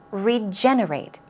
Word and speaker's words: regenerate: Stress goes on the second syllable. Regenerate. Regenerate.